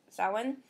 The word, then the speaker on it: Samhain: They called it Samhain, and they show you in brackets pronounced Samhain, which means summer's end.